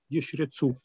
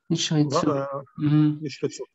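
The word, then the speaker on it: ישרצו: Это означает, что первый из них не произносится, а второй произносится.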